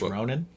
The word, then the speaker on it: Ronin: I believe it's pronounced Ronin.